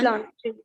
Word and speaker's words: plancher: plancher. Le plancher. See, A-N is to be pronounced as on. So that's why it will be le plancher.